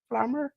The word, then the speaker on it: Flammer: We had the AAA World AAA Rena's title triple threat match with Flammer. Is that pronounce her name right, James? Flammer?